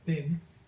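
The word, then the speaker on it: tin: The second syllable is thin. Capital T, small I, small n. Thin.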